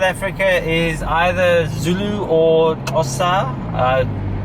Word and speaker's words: Xhosa: Look, majority of South Africa is either Zulu or Xhosa. It's not pronounced correctly like that, but it's close enough. Yeah. But Xhosa or the Zulus, that's majority of South Africa.